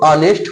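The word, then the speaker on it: honest: ठीक है, अब देखिए जो ऑनेस्ट हुआ, एच क्या हुआ आपका, व्यंजन निकल गया। अब इसको हिंदी उच्चारण जब निकालेंगे ऑनेस्ट, अब ये क्या होगा अ, अब अ क्या निकल गया आपका, स्वर निकल गया।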